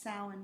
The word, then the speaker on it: Samhain: would officially be pronounced samhain but i don't know if they would pronounce it everybody says everybody says yeah but it's a celtic word yeah no i know